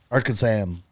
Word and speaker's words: Arkansan: that was a word arkhan arkansan yeah that's how you say it yeah we'll learn